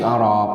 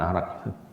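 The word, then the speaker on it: أراك: Ini terjemahkannya enaknya harusnya pakai O aja ya, jangan A. Nanti bacanya salah orang. Araq, ya. Salah baca nanti dikira ada pohon arak.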